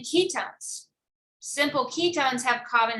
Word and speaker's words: ketone: spell it o-m-e but it's not key one or keep one it's ketone so you pronounce it